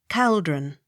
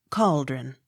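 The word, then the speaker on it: Calderon: e r o n caldron not cauldron c h a r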